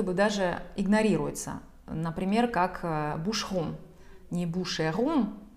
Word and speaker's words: Boucheron: Вот здесь как раз-таки буква «e» в середине читается бегло. Она как будто бы даже игнорируется. Например, как «boucheron». Не «boucheron», а «boucheron».